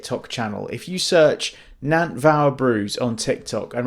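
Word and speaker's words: Nantfawr: It's it's a Welsh word, so it sounds like a V, but it's spelled with an F. So, Nvow Bruise.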